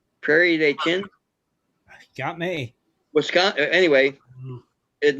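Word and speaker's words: Prairie du Chien: the mississippi river near prairie d chin i guess that's how you'd pronounce it d-h-i-e-n prairie day chin got me wisconsin anyway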